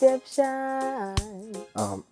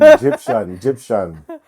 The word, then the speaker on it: Gyptian: She asked me her name, and I told her it's Egyptian.